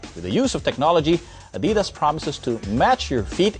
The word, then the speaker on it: Adidas: be pronounced Adidas or Adidas. So which do you prefer? Adidas. There you go. I'm corrected right away. Adidas, it's the German way.